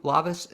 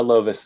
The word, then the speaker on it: Lovice: introduce my first guest and he is andrew lavis am i pronouncing it correctly uh lovis that's pretty close closer than most people okay